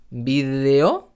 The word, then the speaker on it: vídeo: entiendan es lo importante nos vemos en el siguiente vídeo vídeo con una de entre vocales y ojalá os suscribas